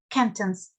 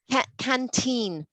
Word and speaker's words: canteen: school um school uh canton's school canton canteen it's it's a long e well there's two e's um so canteen oh